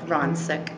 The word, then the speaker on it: Ronsick: It's Ronsick. Like, you have a friend named Ron who's sick. Ronsick. That's how you say my name.